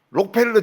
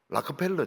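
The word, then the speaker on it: Rockefeller: 서밋 컨퍼런스 이렇게 해야 되는데 록펠러 재단 이러는데 미국 사람 록펠러 재단이라 안 그래요. 락펠러 재단 이렇게 이야기합니다.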